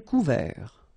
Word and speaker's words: couvert: Un ciel couvert, final T not pronounced.